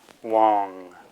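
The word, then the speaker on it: དབང: Prefix da before plain ba changes that ba to wa in terms of pronunciation. So we have da o, wa, na, wong is how it's pronounced.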